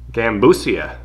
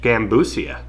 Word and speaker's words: Gambusia: i'm not gonna but the genus name gambusia yeah that's how you'd say that it's cuban spanish gambusia named after gambocino meaning